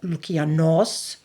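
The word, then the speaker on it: Loukianos: Among the ancients who've added to our understanding of Momos are Hesiodos, 1st century AD Syrian-born Greek satirist Lucian, or, correctly pronounced, Lukianos, 7th century BCE storyteller Aesop of Aesop's Fables, and 3rd century BCE librarian, scholar, and poet Callimachos.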